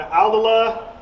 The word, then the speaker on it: Aldila: All right, now we're going with the Aldila, if I'm pronouncing that right, Yep.